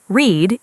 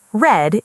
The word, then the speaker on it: read: Read becomes read, but remember the pronunciation changes from read in the present to read in the past.